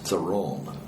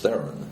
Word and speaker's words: Theron: And she put the emphasis on the different syllables. And so her version of my name was Theron. And my way of talking about my name is Theron.